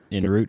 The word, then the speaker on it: en route: I have to think Route 66, and that gets me on that's my go-to.